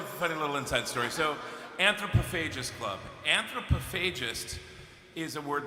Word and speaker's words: anthropophagus: it pronounced before so I was pronouncing an anthropophagous you idiot I know and then